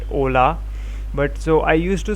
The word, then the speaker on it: hola: i didn't know that ola and hola are the similar things which is pronounced at ola but so i used